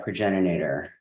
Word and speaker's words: progenitor: And yet, we are loved by that progenitor. Sorry, I always mispronounce that. I always wanted to have more syllables than it does.